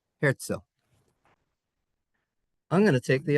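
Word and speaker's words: Herzl: It's actually spelled h e r zl. But in German, if you have a z in the middle of a word, you pronounce it szil. Theodore herzil.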